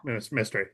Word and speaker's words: Mestre: Am I pronouncing that correctly? Yeah, mystery. Yeah. Mestre.